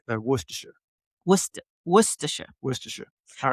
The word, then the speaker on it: Worcestershire: because you don't have to say any of the letters. 14 letters and it only comes out Yeah. 4 sounds. Well, because that's where they're from, right? Worcestershire.